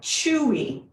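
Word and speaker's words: chui: week and that is it sounds like chewy like you're chewing something it's chewy it's spelled c-h-u-i and we say it chewy chewy try it with me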